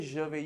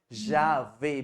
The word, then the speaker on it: j'avais: I heard you say je vais. You have to say j'avais.